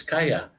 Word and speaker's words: calle: The word for street is kaya, CALLE. Kaya, that's two L's, so it's pronounced as a Y, kaya.